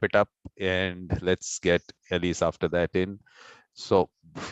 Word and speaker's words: Elyse: First of all, am I pronouncing it correctly? Elyse is all right? Yes, Elyse. Great.